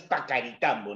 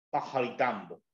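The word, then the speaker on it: Paccaritambo: de pajaritambo ya pajaritambo Recuerda la doble es ese pronuncia como los Andes en quechua no es pacaritambo No y la doble c tiene un sonido como a jota pajaritambo Ya esa es la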